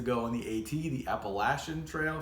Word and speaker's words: Appalachian: on the 80 the Appalachian Trail for those of you who are not from the Appalachian area you're saying it wrong if you say the other way anyway that doesn't matter